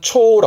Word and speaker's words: 蝶: 얘를 혼자 두면 발음은 초라 그래.